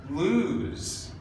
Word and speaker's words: lose: e o s e not the case chose choose lose lose actually runs with choose despite this word having a double O and this word having a single low these are the two that actually run these two even though they're spelled similarly they do not rhyme they do not sound